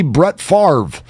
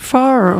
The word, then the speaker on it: Favre: all the time C Brett Favre who has an r in front of the V when the V is actually in front of the r how does that work but you can't have